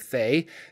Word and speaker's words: Thay: hello everybody Jordan here the pH is silent to start let's re-familiarize ourselves with the red wizards of Fae because my first red